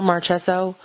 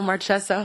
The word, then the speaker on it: Marchessault: Marchessault? That's how you told me to say it. No, Marchessault. Marchessault? Chess. Chess. Not chess, like the game.